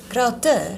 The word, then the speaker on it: Crowther: come from, we just say Crowther. Crowther? Yeah. Really? Yeah. I thought it was a fancy TH. Like, No, but when I get fancy, I say Crowther.